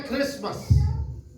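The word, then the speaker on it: Christmas: अगर T silent कर दे तो फिर यह आता है क्रिसमस।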